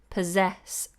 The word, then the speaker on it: possess: the word profound profound possess so remember that's a Zed sound and this is an S sound possess possess acknowledge to acknowledge